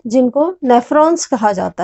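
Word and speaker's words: nephron: और जो वेस्ट होता है वो नेफ्रॉन्स के द्वारा, नेफ्रॉन्स, इनको हम नेफ्रॉन प्रोनाउंस करेंगे.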